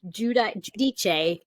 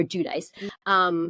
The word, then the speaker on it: Giudice: So it's either Giudice, I believe is the Italian way to say it. So, or Giudice.